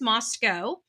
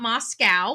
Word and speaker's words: Moscow: So it is the pronunciation is Moscow. Not Moscow, like Russia.